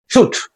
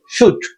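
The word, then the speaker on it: should: auxiliaries modal auxiliaries shall শুড এখানে প্রোনাউন্সিয়েশনের ব্যাপার আছে এখানে কিসের এল এর উচ্চারণ হবে না shall শুড shall শুড will উড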